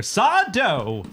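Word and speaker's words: Sardo: I am the beloved 90s character Sado. Yes. No, from mister. Accent on the dough from Are which You Afraid of the intellectual Dark?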